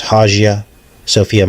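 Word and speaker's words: Hagia Sophia: left- hand side the Haya Sophia MOS it could be pronounced haia Sophia mosque and this is in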